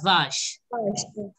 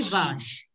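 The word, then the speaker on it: vache: Yeah, Vash. It will be Vash. Okay. Tap codes, can you pronounce this? What? Yeah, it is Vash. CH has to be very clear. It is sh.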